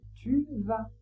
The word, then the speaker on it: tu vas: Tu vas tu vas le V se prononce toujours V. Pas de surprise. Le A se prononce A. Toujours pas de surprise. On ne prononce pas le S. Donc on dit tu vas.